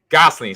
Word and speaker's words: Gosling: Ryan Gosling okay because I hate saying people's name wrong because people destroyed my name when I was a kid so Gosling sorry about that thank you uh BR and